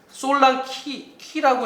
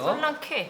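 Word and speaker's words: Solanke: 솔랑키라고 해야 돼요. 솔랑키. 이름은요. 솔랑케. 네, 솔랑케가 아니고 키. 열쇠 할 때 키 발음 해야 돼.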